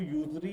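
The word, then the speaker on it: usury: ठीक है, इसको यूजरी भी कहते हैं, यूजरी, इस तरह इसकी प्रोनाउंसिएशन है, देख लीजिएगा आप।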